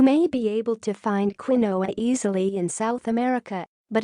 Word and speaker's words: quinoa: Pronounced quinoa, this ancient food closely resembles rice or couscous.